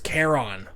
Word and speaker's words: Charon: It's like, no, it's Charon. Right. They always spell the word care on. Charon. Right. So, but they don't pronounce it like that.